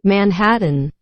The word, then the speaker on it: Manhattan: Manhattan, Manhattan, Now notice that the T's here, they're not pronouncing the T. They don't say Manhattan, Yeah, right? Manhattan. She say like a Manhattan.